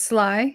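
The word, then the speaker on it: Sligh: old deck name it's it's spelled s-l-i-g-h which i feel like could be pronounced about a billion different ways it's lie yeah is it it's sly okay yeah it's definitely slot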